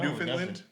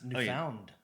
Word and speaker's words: Newfoundland: New Finland. Even though I pron if you talk to Hockey Joe, I pronounce it wrong every time. It's Newound.